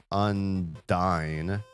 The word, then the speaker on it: Undyne: Toby Fox, the creator of Undertale, pronounces Unine as Undyne. This is the official and canonical pronunciation according to multiple sources including Reddit thread and the Undertale wiki.